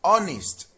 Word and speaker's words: honest: Option C is honest. I'm being honest. The H is silent.